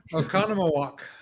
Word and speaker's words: Oconomowoc: that uh so where's greg tuning in from oconomowoc thank you very much for pronouncing that so i didn't have to embarrass